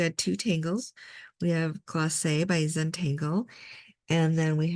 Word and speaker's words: Glacé: And we did Glacé. It's very important to have that accent on the E.